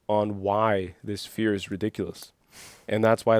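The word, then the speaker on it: Riddikulus: And that's why that spell is called ridiculous. Yeah. It's not any fancy Latin word. Yeah. It's just spelled a little differently with the captions. It's spelled with a K. But it's literally like ridiculous, like fear.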